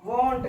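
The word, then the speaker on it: won't: ठीक है दोस्तों, हैडंट, हैडंट, हैडंट पढ़ा जाता है, जो प्रोनाउंसिएशन उच्चारित किया जाता है। और यहाँ विल नॉट को वॉन्ट कहते हैं, विल नॉट को वॉन्ट कहते हैं।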